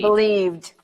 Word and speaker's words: believed: head Gillian that's okay believed yes very it's about idea it's a very subtle D it is that's why